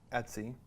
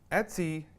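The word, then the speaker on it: etc: this directory right here et Cie which is pronounced Etsy Etsy that directory is basically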